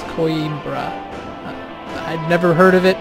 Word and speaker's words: Coimbra: of soldiers in coimbra I've been calling this cumbra and it's not it's coimbra I'd never heard of